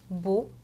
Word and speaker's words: beau: 그래서 mais, scène, saison, naître 이렇게 에 발음으로 항상 해주시면 되고 그 다음은 오 발음입니다. 단어에 항상 얘네가 나오면은 무조건 오라고 읽어주시면 되는데 옷도 jeune, beau, morceau 이렇게 오 발음으로 읽어주세요.